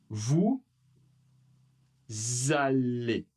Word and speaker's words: vous allez: Le prochain, même règle. Vous allez. Vous allez. Alors attention, le E et le Z ensemble font le son et. Et.